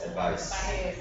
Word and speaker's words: advice: advice yeah advice advice advice sounds like an S second word sounds like a z so it's advise advise in English we use